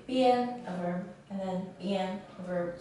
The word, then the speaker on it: 边: after it's pronounced as bien, bien, and then we can need edge or side or border or limit.